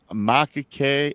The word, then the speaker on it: macaque: Judge rules I think this is pronounced macaque, M-A-C-A-Q-U-E.